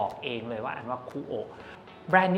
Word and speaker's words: Kuoe: นิด นึง ครับ ว่า คูอ เนี่ย อ่าน ว่า คูอ นะ ครับ ตัว E ตัว สุด ท้าย ไม่ ออก เสียง นะ อัน นี้ เจ้า ของ แบรนด์ บอก เอง เลย ว่า อ่าน ว่า คูอ แบรนด์ นี้ เกิด ขึ้น